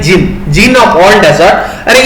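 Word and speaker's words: Djinn: और जिन ऑफ all desert, तो यहाँ पे इसको प्रोनाउंस मत करना डिजिन, ये होता है जिन, जिन ऑफ ऑल डेजर्ट।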